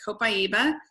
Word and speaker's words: copaiba: move on to copaiba that is how you pronounce it copaiba it comes from a tree it's the resin